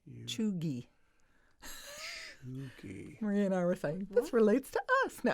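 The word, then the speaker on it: cheugy: the modern onesie choogie how do you spell that c-h-e-u-g-y pronounced choogie this relates to us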